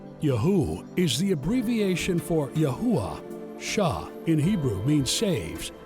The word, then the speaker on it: Yahweh: Hebrew it is spelled yod he yuah and pronounced as Yahweh very simple very powerful the savior's name in